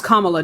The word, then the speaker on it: Kamala: That's not how you pronounce her name. Kamala? Did you watch the debate? Yes, I did. How does she pronounce her name? Why would I focus on that? Kamala? Fucking embarrassing. Her name is Kamala.